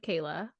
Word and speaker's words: Kaila: Let me help you. Right. It is just Kayla.